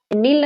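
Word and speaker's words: Nile: नील नदी की दो अलग अलग ब्रांचेस हैं, एक होती है व्हाइट नील, इंग्लिश में नाइल प्रोनाउंस करते हैं, तो एक होता है व्हाइट नाइल, एक होता है ब्लू नाइल।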